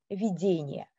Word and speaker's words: видение: То есть можно сказать, что в этих толкованиях на первый и единственный план выходит значение слова с ударением на втором слоге – видение.